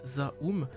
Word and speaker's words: ZA/UM: Donc le 23 février dernier, Zome qui se prononce en fait Zaum mais qu'on va juste